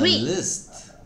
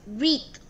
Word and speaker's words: wreath: Ah, wreath. A list. No, wreath. Wait, what? A Christmas list. Wreath. How do you spell it?